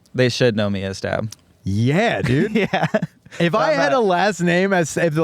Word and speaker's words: Staab: ever go by stab no but if people mispronounce it or read it and read it as time they say you don't correct correct that's pretty sick yeah